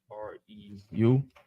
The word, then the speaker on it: Reu: R-E-U?